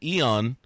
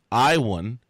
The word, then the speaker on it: Ion: column against now get this we called him Yan or I on last week but his name the correct pronunciation of his name is I won Kuta LA I won can you see that